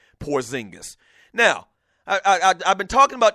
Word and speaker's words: Porzingis: The New York Knicks go out, and they draft Kristaps, I believe that's the way you pronounce the dude's name, Porzingis.